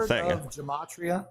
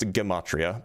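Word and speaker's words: gematria: You're measuring some physical real gamatria. Have you ever heard of gamatria? It's pronounced gimmatria by the way.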